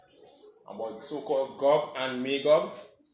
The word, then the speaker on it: Magog: So this is Magog. Pronunciation in the Hebrew is Magawag. Right? Pronunciation is Magawag. That's Magog. In the Hebrew, get this. So that's Magog or Magawag in the ancient Hebrew.